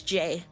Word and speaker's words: Jye: It's J. You pronounce a J just like the letter in the alphabet.